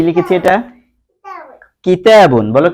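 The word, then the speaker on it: كِتَاب: কিতাবুন, এই যে কিতাবুনটাকে আমরা কাফটাকে একটু খয়ের মতো করে উচ্চারণ করছি।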